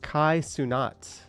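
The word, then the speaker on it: Kai Cenat: It's pronounced Kai Sunat.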